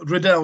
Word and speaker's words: Riddell: the the different places you pronounce my name in different places so riddell is usually the right pronunciation but because i've got